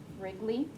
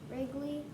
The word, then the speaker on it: Wrigley: don't like but phillip the w is silent ridgely wrigley wrigley the owner of these